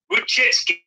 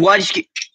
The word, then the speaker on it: Wojcicki: Susan pronounced Susan Wojcicki.